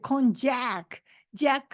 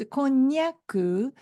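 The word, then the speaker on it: こんにゃく: to eat kyaku and some American people maybe misspell it they call it kjck Jack like a j like Japan but no it's kyaku is a correct word so if you talk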